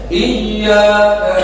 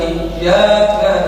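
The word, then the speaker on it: إياك: Iya, ini kan tasydid ya. Artinya harus bacanya iyyaka na'budu wa iyyaka nasta'in. Karena ya na'budu wa iyyaka nasta'in, ya na'budu wa iyyaka nasta'in. Mana ini tasydid mana? Hilang.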